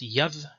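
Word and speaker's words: יד: It's pronounced yad in both traditions, so it's a consonant.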